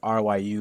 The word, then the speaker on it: Ryu: It's RYU, it's pronounced Ryu.